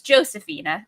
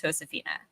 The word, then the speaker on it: Josefina: I only knew it was pronounced as Josephina at the time, but I believe she pronounces it as Josefina.